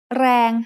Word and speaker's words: แรง: แรง has a low-class consonant and a live ending, so it is pronounced mid-tone.